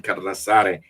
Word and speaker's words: Carlassare: I call him Carlassare because that's how we will pronounce it in Italy, with two S's.